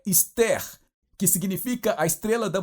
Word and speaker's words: Esther: E no livro de Esther, o nome de Esther é um nome persa.